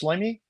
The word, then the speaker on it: Shloimy: the podcast yeah definitely my first name is pronounced schamy um last name